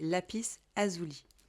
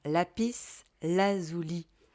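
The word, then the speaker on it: lapis lazuli: alors attendez est-ce que c'est lapis azoui est-ce que je le prononce bien le alors attendez je regarder je vais vous red dire j'aurais dû regarder sur Google dès le départ lapice ah oui la pardon lapis lazouli lapis lazouli alors je vais vous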